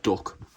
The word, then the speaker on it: DUKW: The DUKW, popularly pronounced "duck", was designed and produced